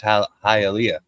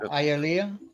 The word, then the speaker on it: Hialeah: It's Hialeah, not Hialeah. Is that what it? Yeah. Hialeah.